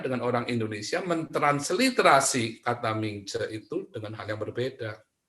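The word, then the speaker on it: Mingzhi: Karena Mingce itu M-I-N-G-C-E nulisnya beda lagi bacanya buat orang Cina. Mereka akan nulis M-I-N-G-Z-H-I, maka itu dibacanya Mingce.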